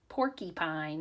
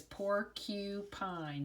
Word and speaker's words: porcupine: Sometimes little kids say porcupine, right? It kind of sounds like a Y in the middle, porcupine. But if you pronounce it really correctly, it's porcupine, so it makes sense.